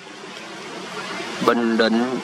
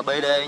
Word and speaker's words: Bình Định: Bình Định 93001 Toyos. Mình đọc là Bình Định nha chứ không đọc là BD nha.